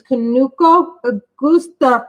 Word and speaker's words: Kanuko Igusa: Yes, and the way you pronounce it is Kanuko Igusa for Michelle, because Michelle cannot pronounce the man's name.